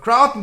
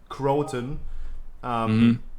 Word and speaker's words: Crowton: Crowton, please introduce yourself. Hi, I'm Crowton, but I pronounce it Croton. Everybody else pronounces it however they feel like.